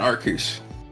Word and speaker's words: Arceus: So You mean Arceus? Okay. I mean, that is kind of a Arceus, good thank point. you. How did you know I meant Arceus? Because of the That is the meme. only correct pronunciation.